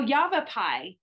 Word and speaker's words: Yavapai: they answered the phone and they said oh yavapai that's how they say it now jacob pulled